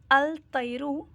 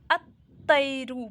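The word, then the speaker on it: الطير: Written में अल तैरु अगर हम इंग्लिश में पढ़ रहे हैं तो सही होगा, लेकिन अरबिक में अल तैरु ये रॉन्ग होगा। अत्तैरु पढ़ेंगे, अत्तैरु।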